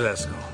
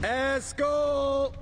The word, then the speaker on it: Eskel: Where's Eskel?